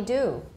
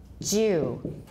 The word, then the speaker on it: dew: In American, it's just dew, and it sounds the same as dew. In British, it's pronounced as, not T, sorry. We have to go to D here.In British, it's pronounced Jew.